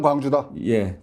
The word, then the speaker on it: 광주: 전남 광주였죠 광주였죠 그리고 광주가 아니고 광주입니다 광주는 넓을 광자에서는 경기도 광주고 광주는 빛광채스는 짧은 발음 광주 이렇게 발음해 주십시오 알겠습니다 감사합니다 제가